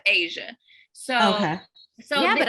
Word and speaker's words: Ajia: Yeah, but it's Asia, pronounced just like the continent.